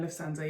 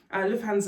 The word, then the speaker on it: Lufthansa: Lufthansa, I think is the pronunciation. Yeah, Airline Lufthansa, yeah.